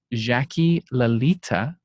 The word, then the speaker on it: Jaqui Lalita: My name again is David Startouch, and we have Jacqui Lalita. Did I say it right? Yes, you did. Close.